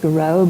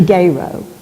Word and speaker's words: Garrow: Belgian immigrants was christened Leon Joseph Garrow correctly pronounced Garo but Americanized or Arkansas eyes to geyro he farmed rice oats